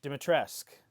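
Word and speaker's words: Dimitrescu: I I don't remember how to pronounce her character name. Lady Du Dimit Dimitresque. Dimitresque.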